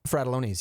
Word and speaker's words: Frattellones: Frattellones, yeah. Huh. That's how you pronounce my name.